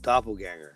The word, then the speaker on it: doppelgänger: And I said it wrong. It's a doppelganger.